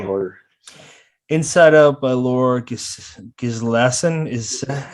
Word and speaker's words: Gislason: Inside Out by Laura Gislason. Is that how you say it? Gislason.